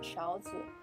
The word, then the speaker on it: 勺子: First one is spoons, which are pronounced 勺子. The second word is pronounced very lightly.